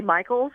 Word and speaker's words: Michelis: Media Relations, Jay Michelis, I'm not sure if that's pronounced. Jay Michael, or is it Jay Michaels? Is that who you're referring to? Yeah, Jay Michaels.